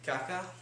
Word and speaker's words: kaka: cake is derived from the old viking word spelled and pronounced kaka hi i'm josh armstrong